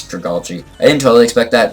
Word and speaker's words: Dragalge: Yeah, I always want to say it wrong, but it's Dragalge.